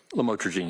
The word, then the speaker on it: lamotrigine: Lamictal, otherwise known as lamotrigine. Did I pronounce that right? Lamotrigine, yes. Lamotrigine.